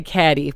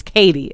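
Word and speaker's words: Cady: oh gosh okay so i want to say caddy because they say they say it like that in the whole movie but it's katie okay katie herron played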